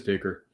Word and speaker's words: Dicker: And his name rhymes with kicker. His name is Dicker.